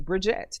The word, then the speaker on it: Bridgette: i tell you guys to pronounce my name bridgette think of a bridge and a jet and put them together so there you go